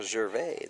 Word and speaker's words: Gervais: Gervais de l'Alberta préfère Gervais, donc on respecte leur choix de décision.